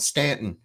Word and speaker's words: Staunton: that because people there's an old city called Stanton it's actually spelled like Staunton but anyways it's just